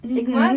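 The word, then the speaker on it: Sixma: your song Restless Hearts produced alongside Mark Sigma Sigma that's how you pronounce it received um REM a remix from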